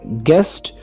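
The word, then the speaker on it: guest: आगे जो है वो यू की एग्जांपल है, जैसे गेस्ट, यहाँ पर जो यू है वो साइलेंट है।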